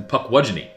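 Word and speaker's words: Pukwudgie: of the pronunciations um it's it's actually spelled as if it's Puck watch E which is p-u-k-w-u-d-g-i-e um but you know sometimes Native American words have like you know they're not phonetically spelled so um their pronunciation looks like with uh two ends but there's no ends in the spelling anyway um this is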